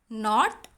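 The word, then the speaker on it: knot: जैसे ये वर्ड्स आप लोग पढ़ेंगे, नी, नाइफ, नॉट, नो. तो इन वर्ड्स में क्या कॉमन है, इन वर्ड्स में के का साउंड आ नहीं रहा है जब हम ये वर्ड्स को प्रोनाउंस करते हैं. सो के इज साइलेंट.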